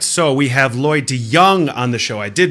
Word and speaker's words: De Jongh: All right, so we have Lloyd De Jongh on the show. I did mispronounce it. It's a soft J.